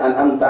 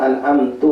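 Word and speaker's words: أنعمتَ: Misalnya an'amta alaihim dibacanya an'amtu alaihim. Nah itu salah.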